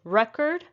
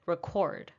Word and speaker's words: record: with these two words record and record it's not just the stress that is shifted but the vowel sounds also change depending on if you